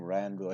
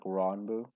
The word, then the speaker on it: Ranboo: Well, sorry, I keep calling him Ranboo. I think it's Ronboo. Isn't that how you say his name? It's like Ronboo.